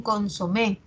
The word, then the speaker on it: consomé: ejemplo consomé es aguda las personas dicen un consomé eh al margen de cómo se escriba la pronunciación es aguda lo mismo pasa con